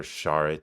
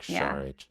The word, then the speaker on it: Šarić: I just felt like Dario SAR was or Char I don't know I just heard a thing about how you should pronounce it today like Char um he was signed